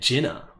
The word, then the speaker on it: Gynoug: They're pronouncing it Jinnah.